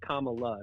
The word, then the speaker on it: Kamala: go back to be it's Kama like like commala not Cala not Cala right so you are